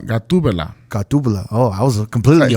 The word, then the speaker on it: Gatubela: Am I pronouncing it? Guatemala. No, Gatubela.